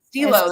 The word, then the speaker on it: Stelo: You can get it at is it Stelo? Is that how you pronounce it? Stilo. Stilo. Stilo, there we go.